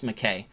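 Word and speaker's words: Mackay: madness of crowds by charles mckay m-a-c-k-a-y it's spelled differently that's available on audible audiobook 2.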